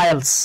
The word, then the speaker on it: IELTS: Similarly দেখেন, আমরা কি এটাকে IELTS বলবো নাকি IELTS বলবো? বলেন তো কি হবে? জি, এইটা কিন্তু IELTS না, কজ এটা হলো বাবা অ্যাক্রোনিম। তো অ্যাক্রোনিমটাকে কি পড়তে হয়? এটাকে পড়তে হয় আইএলস।